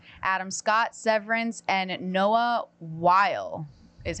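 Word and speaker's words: Wyle: Brown, Paradise, Gary Oldman, Slow Horses, Pedro, Pedro Pascal, The Last of Us, Adam Scott, Severance, and Noah While is how you pronounce it, everyone from the pit.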